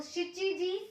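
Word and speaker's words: しち: शिची भी बोलते हैं, लेकिन जब हम टाइम की बात कर रहे हैं तो हम 7 को नाना नहीं बोलेंगे, हम 7 को शिची बोलेंगे, ये आपको याद रखना है।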